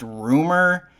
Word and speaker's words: RMR: actual album by RMR, which I've recently heard is pronounced Rumor.